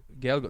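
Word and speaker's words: Gaeilge: Gaelga, not Gaelic. Gaelga. Gaelga is the right way to say right, it.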